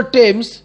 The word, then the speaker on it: Thames: সেই নদীটির নাম হচ্ছে টেমস। উচ্চারণটা টেমস, কিন্তু যখন বানানটা লিখব তখন আমরা মনে মনে উচ্চারণ করব থেমস, THAMES, থেমস।